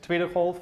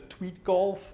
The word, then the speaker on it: Tweedegolf: I work at Tweedegolf. You might also have it pronounced as Tweedgolf or Tweedegolf.